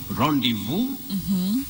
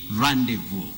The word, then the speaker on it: rendezvous: And the way we pronounce it in English is rendezvous, rendezvous, but we can also say rendezvous, rendezvous, which is more of French pronunciation.